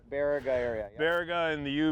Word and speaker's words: Baraga: I'm glad you showed us some of this stuff up in, how do you pronounce this? Baraga? Baraga area.